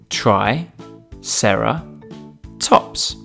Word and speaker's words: triceratops: us today triceratops try sarah tops can you say it with me try sarah tops let's learn all about triceratops